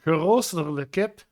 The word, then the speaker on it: geroosterde kip: I think it's pronounced geroosterde kip or something. Ja, geroosterde kip.